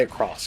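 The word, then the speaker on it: Sengoku Basara X: and no not X though it shows an X you don't say it like X you say across because that's what your pan does because it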